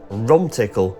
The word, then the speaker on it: Rumtickle: The viaduct proudly spans the valley of the River Don, and it is spelt in such a way as Romtickle, Romtickle and Romtickle, as seems to be more common.